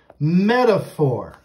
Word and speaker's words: metaphor: It has that PH there for the F sound, like an F. Metaphor.